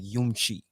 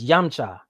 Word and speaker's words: Yamcha: with music is like yumchi real cool rapport what is she here oh yeah if i'm pronouncing it right okay so you'll be the first that i'll break that down for so it's it's yamcha so real cool yeah